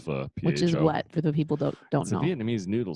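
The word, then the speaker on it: phở: make my own fuss some people pronounce it pho but that's wrong it's technically pronounced for what people don't Vietnamese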